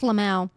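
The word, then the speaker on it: LMAO: You're just hearing it phonetically. It's just Lamau.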